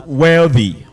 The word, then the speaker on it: wealthy: All right, then one of you pronounce the word as wealthy. I think it is the chief speaker from Kings and Queen. That word is wealthy, not wealthy. Okay, it is voiceless, dental fricative.